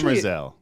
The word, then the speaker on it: Demerzel: Yeah, it's Demerzel.